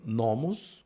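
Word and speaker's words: νόμος: Nós temos nomos logo na primeira sílaba, por isso que falou nomos, que é lei.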